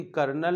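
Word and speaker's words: colonel: ने आदेश दिया कि जो यहां पर कर्नल हम लोग हिंदी में बोलते हैं इसकी स्पेलिंग थोड़ा सा डिफरेंट होती है तो ओरिजिनल एक कर्नल को इंग्लिश में कॉलोनल इस प्रकार से स्पेलिंग लिखते हैं पौन इंच तो फिलहाल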